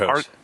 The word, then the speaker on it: Archos: It's Arcos. Arcos? Yeah. Spell your names the way you want us to pronounce them. Hard CH, brother. Oh, whatever.